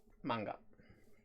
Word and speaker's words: manga: I always thought it was like manga, not manga. It's manga. Oh. Like a man.